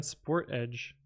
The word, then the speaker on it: Sportage: They pronounce Sportage as sport sportage rather than sport edge.